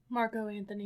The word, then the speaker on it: Marco Anthony: Is it Marco Anthony or Mark Anthony? Marco Anthony.